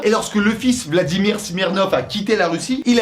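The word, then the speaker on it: Смирнов: sont durcies, en fait, on écrit Smirnov, alors qu'en vérité on prononce Smirnov.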